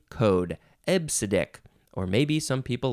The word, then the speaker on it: EBCDIC: c d i k but you do pronounce it ebbsidic you can you can pronounce it ebb acidic or EP sadik I don't know how the the P sound got in there because there's no p in all those letters uh so ebbsidic seems like the more the more correct way to say this absidic uh this is